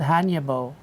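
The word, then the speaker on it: Hannya: A Hanya mask? Yeah. Did I pronounce that right?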